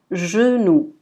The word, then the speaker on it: genou: Ensuite, la lettre G, elle est prononcée de deux manières différentes. Dans ce cas-là, on dit genou.